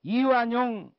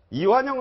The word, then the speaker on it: 이완영: 이완영 의원을 자꾸 이완용이라고 발음을 해서 저게 지금 SNS에 화제가 되고 있어요.